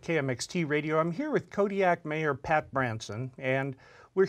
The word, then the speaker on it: Kodiaq: In the Aleutic language, the Qs are more come from like your throat than a normal K does. How would we pronounce it then? Kodiaq. Kodiaq.